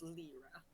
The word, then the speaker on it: Lliira: Is it Lyra or Lyra? Lyra. Lyra. I decided it's spelled Lliira, so I decided that it's Lyra.